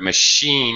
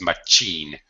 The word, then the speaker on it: machine: washing machine perfect okay this word machine is a word that spanish speakers often mistakenly pronounced as much gene but of course in english it is an SH sound mushy yeah that was